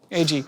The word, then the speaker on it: Agee: Agee. Which is pretty rare. What is the worst mispronunciation of your name?